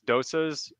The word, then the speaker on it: dosa: with some nice um i said it wrong but it's dosas it's like i said